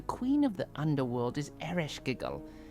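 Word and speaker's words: Ereshkigal: The queen of the underworld is Eiskigal. And you would say her name like this, Eroskal.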